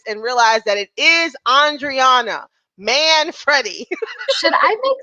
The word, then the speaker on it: Andriana Manfredi: Will hopefully he will hear this and realize that it is Andriana Manfredi.